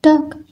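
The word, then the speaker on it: talk: मी टॉक लेट मी टॉक एल की आवाज silent है कुछ खास नहीं नथिंग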